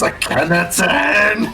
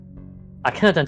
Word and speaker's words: Akhenaten: Akhenaten, and he's gonna purposely mispronounce his name. You can still come with us. Give up your so-called godhood. it's Akhenaten!